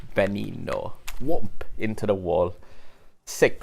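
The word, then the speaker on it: Veneno: end of me saying venino and it's just like i look it up and like the the pronunciation the first let the first letter supposed to be pronounced as a b it's benny no whoop into the wall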